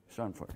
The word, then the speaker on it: Schadenfreude: Schadenfreude.